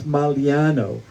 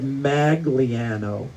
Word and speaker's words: Maliano: When my family moved to Charles Town, and that's where I'm from, no one knew how to pronounce Maliano. They said maganiano.